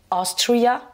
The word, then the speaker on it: Austria: Alors que dans Autriche, on va dire Austria, première syllabe, et autrichien, Austrian, première syllabe aussi.